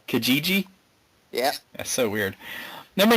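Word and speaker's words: Kijiji: I say it wrong it's k i j i ji Kajiji yeah that's so weird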